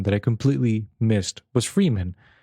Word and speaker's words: Fremen: completely missed was freeman i read freeman every single time and then they go freeman i'm like is that how you pronounce it and i look at the book and it's like it's a fremen it's like there's only one e but it's like that's